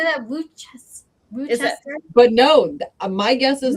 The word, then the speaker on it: Worcester: Worcester?